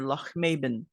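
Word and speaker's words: Lochmaben: The cottage I found was near Loch Maben. That's how the locals pronounce it.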